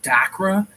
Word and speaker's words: Dachra: So moving on, I watched the trailer for this movie called Dacra, and it's spelled Dachra.